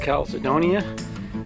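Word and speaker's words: chalcedony: and hearts see they've collected the it's called pronounced Caledonia it's a gem that uh you can find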